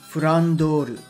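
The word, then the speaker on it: フランドール: For those unaware, Flandre's original Japanese pronunciation is actually Furandoru, and Francesca here, Furan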